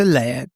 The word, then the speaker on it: Leyre: Le, is that how you pronounce it? Le is perfect. You can call me Lei if it's more comfortable for you.